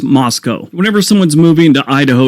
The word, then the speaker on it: Moscow: Moscow Idaho and it's spelled Moscow but it's pronounced Moscow whenever someone's moving to Idaho you always hear